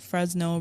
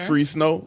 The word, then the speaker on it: Fresno: Maybe I'm mispronouncing it. Fresno. Sure, that sounds better. Free snow. Maybe it's Fresno. Yeah, free snow. somebody listen to this is like this idiot. No, it's Fresno.